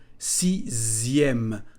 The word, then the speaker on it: sixième: La lettre X se prononce comme un Z. Sixième.